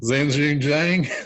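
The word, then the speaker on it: Xinjun Zhang: Zanjun Zhang.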